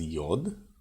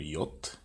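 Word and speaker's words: יוד: Yud. You might hear this as yod or yot, but normally it's yud.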